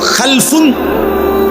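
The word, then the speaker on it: خَلَفٌ: ভিন্নতা মাঝখানে একটা লাম আছে। এই লামটার মধ্যে যদি সাকিন হয় তাইলে হল খালফুন। আর যদি লামের মধ্যে জবর হয় তাহলে হল খালাফুন।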